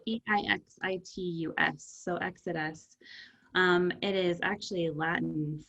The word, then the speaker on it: Exitus: absolutely so i am the ceo of exodus it's spelled e-i-x-i-t-u-s so exodus um it is actually latin for the ending